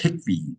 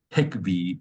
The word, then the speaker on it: Khikhvi: from what I understand K is at the very beginning is silent but everything else is uh pretty much uh pronounced pretty fanatically so the khi kvi is pronounced hick V so we got 2016